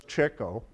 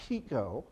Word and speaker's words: Kiko: And they weren't doing well in America because Americans didn't know how to pronounce their name partially. They thought it was Chico.